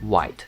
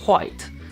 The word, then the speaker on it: white: And a little 'wite', not 'white, silent h I guess Okay, a little red